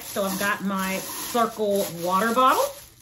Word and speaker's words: Cirkul: in um all right so i've got my circle water bottle right here nice that's nice i've